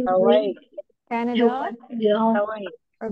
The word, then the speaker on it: Hawaii: Hawaii. Oke, karena ini Hawaii. dibacanya juga emang I-nya lebih ditekan ya.